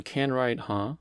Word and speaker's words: can-ride?: can write huh so sometimes this question mark is pronounced huh right like a question so can write huh that consumes an age